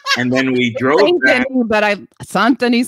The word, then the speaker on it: Saint-Denis: Saint-Denis sounds good to me. Oh, how do you say it? Saint-Denis. Saint Denis. Yeah. I was trying to be more French.